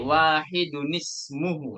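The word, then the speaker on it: واحدٌ اسمه: Karena ada hamzatul wasal menjadi wahidun ismuhu.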